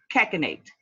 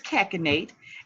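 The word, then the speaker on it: cachinnate: have heard before and that word is cash innate excuse me keka Nate and keka nate is spelled CA CH i in in a te and again that is Keck innate and Keck innate means to laugh loudly and or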